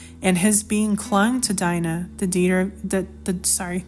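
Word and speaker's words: Dinah: yakob of Jacob um I pronounce it Dina maybe some some of you pronounce it uh as Dena I say Dina um I could be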